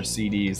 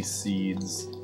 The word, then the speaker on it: SeeD: Is seeds pronounced like seeds or CDs? That capital D. It's definitely seeds despite the capital D looking kind of confusing when